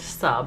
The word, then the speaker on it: sab: how these are okay sab is pronounced sub okay sub k papa